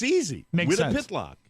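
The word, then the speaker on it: Wytopitlock: our camp up in north and go through Wittapitlock. And that's how that name is pronounced. Wittapitlock.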